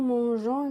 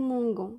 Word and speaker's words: mangeons: Donc, avec les verbes G, لازم تخلوا le G pour prononcer la lettre G. Nous mangeons, mais pas nous mangons.